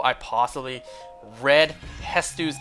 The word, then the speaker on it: Hestu: how I possibly read Hestu's name wrong when I first played the game. I thought the T and the S were opposite spots. So at first I read his name as Hetsu.